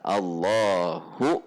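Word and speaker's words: الله: Allahu, hati-hati, jangan nahan di hu-nya, karena hu-nya harus 1 harokat. Allahu 1 harokat, langsung akbar. Atau menambahkan wawu hidup atau wawu berharokat, Allahu wakbar, pakai wawu, jadi wakbar.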